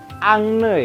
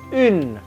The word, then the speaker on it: une: Bacanya bukan angne ya. Ini si huruf belakangnya nih yang e yang butuh teman pendamping. Bunyi huruf beratnya maka menjadi une. Begitu cara bacanya ya.